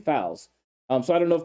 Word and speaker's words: Foles: Because now I remember like a couple years ago it was Flanagan Foles, and now it's 100% Flanagan Fowles.